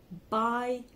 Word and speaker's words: bei: do d double O by b u y like to buy something Mia iwriters m-e-a-r and it